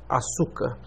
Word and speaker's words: açúcar: a palavra ocular sim vocábulos paroxítonos ou graves com acento na penúltima sílaba por exemplo açúcar vocábulos proparoxítonos ou esdrúxulos